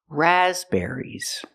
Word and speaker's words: raspberries: the word raspberries raspberries first the stress We cannot put any stress on the third syllable there's only one stress it's on the first syllable raspberries the second syllable is not ER it's air air like hair and chair raspberries I'm going to